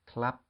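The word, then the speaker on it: คลับ: used by a man the next word has the same pattern but instead of a rolling lady boy it's a squirrel so together that's clap and that comes from the English Club the last few words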